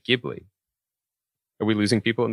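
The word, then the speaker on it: Ghibli: maybe our listeners don't it's pronouns gibli with a hard G this is the the GIF GIF thing all over again but when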